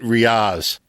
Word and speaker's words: Riaz: Now, did I get Riaz right, or is it Riaz? It's Riaz, but I don't mind exotic pronunciations, however you want to call it.